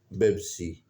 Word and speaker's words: Pepsi: ineffective communication for example Arabic language there is no letter to produce the sound of p and due to this reason Pepsi is pronounced as beepi Ford introduced its car Pinto